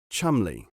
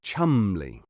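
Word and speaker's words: Cholmondeley: you write it charmunderly but you must always pronounce it chumly or better still chumly you know the sort of thing just as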